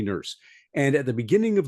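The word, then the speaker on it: Nourse: guy named alen e it's pronounced nurse but it's spelled n o RS e alen e nurse and at the beginning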